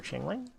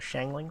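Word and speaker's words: Xiangling: team here except for changling uh they're shangling sorry finally learned how to pronounce her name yeah is level 80.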